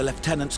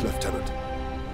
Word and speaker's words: lieutenant: then we find this leftenant we need updated Intel on the gun battery that is actually the correct way to say that word so Lieutenant left tenant true here my lords